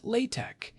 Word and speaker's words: LaTeX: It is spelled L A T X but pronounced latte.